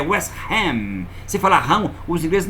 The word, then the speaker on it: West Ham: Arsenal quando falou Arsenal José falei ok boa pronúncia os ingleses vão entender aí depois diz que vai jogar com outro time é West Ram Fala para ele que hanam é primo carnal